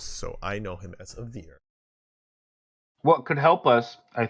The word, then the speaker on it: Avir: A veer. What is it? A veer. A veer. A veer. Spell it.